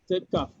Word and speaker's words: tekak: Tekak. Tekak. You don't say tekak. The K is silent.